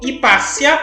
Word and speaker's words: Hipácia: A filha de Theon foi Hipácia ou Hipátia, as duas pronúncias são aceitas, de Alexandria.